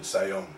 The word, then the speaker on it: Siayome: Yeah, but it's the same pronunciation, Siayome.